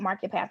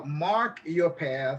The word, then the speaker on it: Mark Your Path: bit that's that's what marketpath is about and i mispronounced that it is uh mark your path yes mentoring initiative i